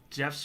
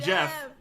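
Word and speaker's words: Geoff: nate nathan uh sarah's there i forget that jeff's full name is jeffrey jeffrey i just thought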